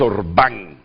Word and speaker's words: Orbán: Me disculpan la pronunciación primera, es Orbán, lleva acento en la no tiene un rostro